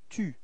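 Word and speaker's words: tu: the first person is repeat second person is to repeat to okay and then third person we've got the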